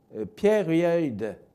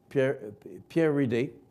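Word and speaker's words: Pieridae: On dit que Pierre-Reid Energy Limited, ça s'écrit P-I-E-R-I-D-A-E, Pierre-Reid, j'espère que je le prononce bien, qui a fusionné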